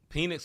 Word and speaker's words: Penix: And Penix looked very, very good without that pressure on.